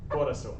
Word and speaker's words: corazón: I have un corazón. Remember the Z is an S sound.